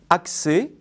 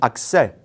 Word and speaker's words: accès: prononce pas autre particularité l'accent grave se prononce dans ce cas comme un accent aigu on dit accès avec un et fermé et non accès avec un et ouvert même remarque pour congrès